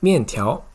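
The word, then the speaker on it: 面条: It's pronounced 面条.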